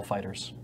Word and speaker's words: FighterZ: Z, Which is just pronounced Dragon Ball Fighters.